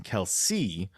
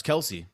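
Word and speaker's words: Kelce: talking about uh travis kelsey came out and said uh a while back that his name's actually kels and it's just everyone's been mispronouncing it forever but we still call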